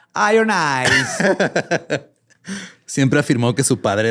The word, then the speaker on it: Iron Eyes: Se pronuncia Iron Eyes.